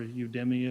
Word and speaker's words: Udemy: It's a learning platform called Udemy, or Udemy if you look at it, you may want to pronounce it that way.